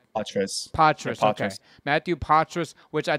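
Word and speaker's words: Poitras: And then you have, how do you pronounce, is it Matthew Portras? Patras.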